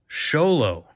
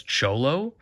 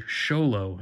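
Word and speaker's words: Xolo: it black ball song sholo x o l o is how this ballet is spelled I've heard this pronounced most of the time as cholo or Zolo uh pronounce it how ever you want I don't really care but according to Google this is the sholo and that's how you would pronounce it uh this knife is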